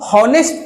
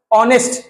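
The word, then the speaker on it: honest: बात करें इसका तो इसको नेस्ट तो नहीं पढ़ते हैं ना नेस्ट पढ़ते है एच क्या हो गया एच भैया हो गए हमारे साइलेंट ठीक है और इनिशियली प्रोनंसिएशन किसका आया ओ का ऑनेस्ट ठीक है तो यह पहला जो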